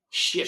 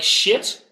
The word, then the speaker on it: chips: but you know what the Dutch pronunciation is what ships chips gu yeah you have to go like ships ships ships there you go [